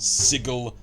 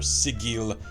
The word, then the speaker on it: Sigil: multiverse sigil i know it's in some circles pronounced sigil or see Gil i pronounce it shizzle i know i'm a heretic the most famous plane